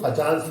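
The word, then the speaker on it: Fajans: Scientist का नाम है फैजान। सो इट इज फैजान्स rule. Pronunciation थोड़ा चेंज हो गया, फजान्स रूल।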